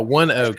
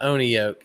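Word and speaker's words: ONEOK: Oh, one oak is the pronunciation. Okay. So, one oak. Okay. So, it's not on oak, it's one oak.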